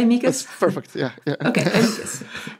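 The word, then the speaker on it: amicus: how do you say amikas do you say amikas perfect yeah yeah okay amas um we have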